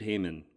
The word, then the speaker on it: Hayman: I am pronouncing that right, Hayman? Hayman, yeah.